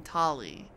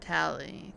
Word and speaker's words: Tali: Okay, she pronounces her name Tali. But I've heard Tally too. So does it really matter?